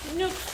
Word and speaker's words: Nuxe: Nasıl okunuyor? Nüks mı? Nüks. Nüks. Nüks de geç işte.